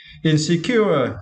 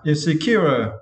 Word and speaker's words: insecure: and for this verse you need to stretch the third syllable cure okay insecure insecure okay and for the final